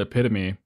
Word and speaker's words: epitome: There's this interview on the red carpet with Shia LaBeouf, and he says the word epitome, but he pronounces it epitome.